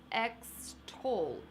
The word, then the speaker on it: extol: Let's pronounce the word slowly. Extol, extol. Sounds like ex-stol.